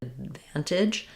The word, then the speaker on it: advantage: My tongue is going up for that D, but it's not releasing. It's also because we're stressing on the van syllable. So, letter A is going to be a schwa here, the "uh" sound. Letter D is going to be marked by lifting the tongue but not released.